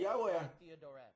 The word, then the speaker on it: Yahweh: Ele também se baseia na pronúncia samaritana, que é Yahweh.